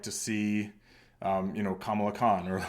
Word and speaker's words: Kamala: see um you know Kamala Khan or like or I guess it's Kamala KH I think her name is actually pronounced different um from from kamla Harris but um yeah I